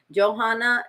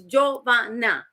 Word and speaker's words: Jovanna: gets mispronounced a lot I get Johanna Johanna mama I've gotten Savannah I've gotten Giovanni Giovanna I get all those names and I'm like it's Jovana or not Gio there's one director